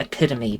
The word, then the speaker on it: epitome: It's pronounced epitome, but I don't know. Maybe you're right. Yeah. Well, I've said it like both ways, I guess.